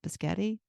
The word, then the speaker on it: biscotti: Is that how you pronounce it? Biscotti.